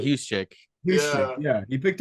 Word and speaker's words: Juszczyk: He picked up Jusic. Is that how he pronounced it? I oh, Kyle said, Juszczyk.